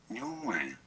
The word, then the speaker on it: Nguyen: How to pronounce Nguyen? Nguyen. I'm just gonna say Nguyen.